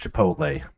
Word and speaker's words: chipotle: its Chipotle that sounds pronounced wait what it's pronounced Chipotle hot chapati chapati we have ever had it